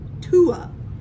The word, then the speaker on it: Tuh'u: I'm going to say this is called Tuh'u. It's T-U-H with an apostrophe and then a U.